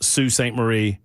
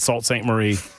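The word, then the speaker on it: Sault Ste. Marie: And I've been told this by several different people that it's Sue St. Marie, not Salt St. Marie. Disrespecting the Canadians, eh? It was s a u l t, but that's pronounced sue.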